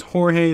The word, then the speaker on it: Jorge: Yes, it's Jorge, that's how it's pronounced.